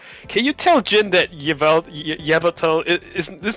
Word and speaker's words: Yveltal: Can you tell Jin that Yveltal is not pronounced Yvatalo, right?